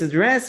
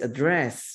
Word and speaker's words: address: And always address me as your majesty. Always address me. Y siempre, ok, address. Tenemos dos significados para address, ¿no? Address, ok, address. Y la pronunciación también cambia un poquito.